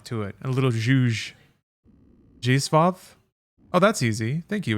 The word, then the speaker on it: Zdzisław: Zdzisław Beksiński. Zdzisław. Wait. Zdzisław. It's almost like an S H.